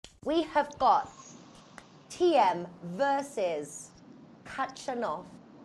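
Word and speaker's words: Khachanov: have bought TM versus Katrin off I think I've always heard the K is silent in his last name it is that you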